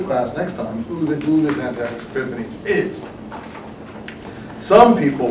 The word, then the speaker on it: Antiochus: next time who this Antiochus Epiphanes is. Some people like to call it Antiochus Epiphanes. I think the proper pronunciation is Antiochus. But since the town is Antioch, I always say Antiochus.